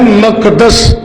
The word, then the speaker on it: بیت المقدس: قیامت کی تیسری نشانی بیت المقدس اور دوسرا تلفظ ہے مقدس، ان کا فتح ہونا۔